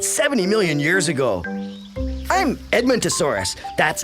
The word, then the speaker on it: Edmontosaurus: I'm Edmontosaurus. That's Edmontosaurus, eh?